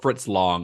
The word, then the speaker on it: Fritz Lang: He worked a little bit later because like M was Fritz Lang's, or Fritz Lang, I think is the actual pronunciation, but M is his first sound film.